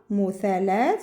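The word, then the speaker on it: مثلّث: La, muthalat, muthalat. Comme si on va appuyer dessus un petit peu.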